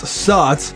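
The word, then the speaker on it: Zotz: because House of Zots, technically pronounced Saut, translates to bat in several Mayan languages.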